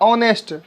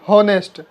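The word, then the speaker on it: honest: फिर देखिए इसका प्रोनाउंसिएशन होता है ऑनेस्ट, ना कि हॉनेस्ट, इसमें भी ओ आ रहा है, अन का प्रयोग।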